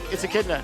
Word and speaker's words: echidna: How it's pronounced? Yeah, it's echidna.